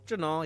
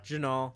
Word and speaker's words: Jinaal: Jinaal, yeah. Jinaal.